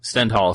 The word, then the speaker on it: Stendhal: Am I pronouncing that correct, Brad? Stendhal syndrome. Stendhal, yes.